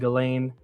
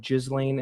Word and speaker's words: Ghislaine: stuff with him and Ghislaine, which is how you pronounce her name, believe it or not. For the longest time I was saying Gishlaine, and it's not that.